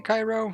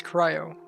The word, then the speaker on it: Cryo: It's Cryo. I always want to say Cairo. Yeah, that's spelled differently. Cryo, like cryo chamber.